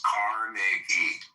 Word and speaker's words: Carnegie: Okay, so pronounce his fucking name right. It's Carnegie.